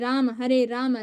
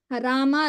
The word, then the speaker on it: Rama: Hare Krishna, Krishna Krishna, Hare Hare, Hare Rama, Rama Rama, Hare Hare. Don't say Ram Ram, Rama Rama.